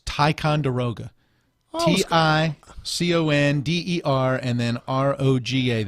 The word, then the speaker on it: Ticonderoga: It's Ticonderoga.